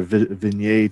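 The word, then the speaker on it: Vigenère: this table which is called a visionaire or vignette table if you're if you want to pronounce the french correctly which is the alphabet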